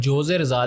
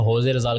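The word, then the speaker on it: José Rizal: और जो फ़िलीपींस के नेशनल हीरो हैं होजे रिजाल, जिसको लिखते तो जोजे रिजाल है, लेकिन बेसिकली प्रोनाउंस इसको होजे रिजाल किया जाता है, जो कि नेशनल हीरो मार्टियर हैं।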